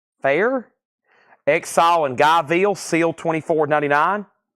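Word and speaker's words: Phair: fair or is it far Fair Exile and gville sealed 24.99 the Posies amazing disgrace sealed $24.99 Lucy dcas no burden sealed $24.99 Prince Originals seal $29.99 it's pronounced Fair thank you Liz Fair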